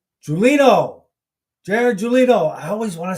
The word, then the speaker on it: Gulino: Why do I always want to say his name wrong? Gulino.